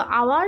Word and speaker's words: hour: Okay, then she is an hour late. So hour indicates a mute H.